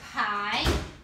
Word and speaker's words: pie: Examples, pie and main. The E in the word pie isn't saying anything, but it's letting us know that we need to say I for I in this word, pie.